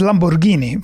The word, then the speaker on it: Lamborghini: Yeah, it's pronounced Lamborghini, first of all.